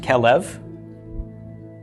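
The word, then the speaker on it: כֶּלֶב: from the next Sehgal bait with no doggish is a V it's pronounced kal-el kal-el kal-el means a dog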